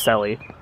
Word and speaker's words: Shelley: Kind of weird that her name is spelled Shelley, but pronounced Sally.